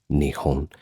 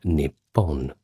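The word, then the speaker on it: 日本: That word nihon is more of a casual rendering but nippon with two ps that is n i p p o n is a little bit more in a formal context.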